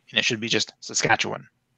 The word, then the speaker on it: Saskatchewan: But I've been saying Saskatchewan all my life. And it sounds like the "wan" at the end.